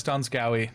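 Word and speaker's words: Donskoi: Giannis It's pronounced Donskoy.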